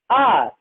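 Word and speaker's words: hour: in this example see the second one r the first letter h is silent it is not pronounced and so we use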